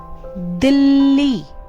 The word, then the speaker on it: दिल्ली: आपने देखा मैंने दिल्ली, उस ला पर कितना प्रेशर डाला है। अगर मैं ये आधा ला हटाकर इसका उच्चारण करती हूँ तो ये दिल्ली होगा, दिल्ली। दिल्ली और दिल्ली में कितना अंतर आ रहा है इस आधे ला से।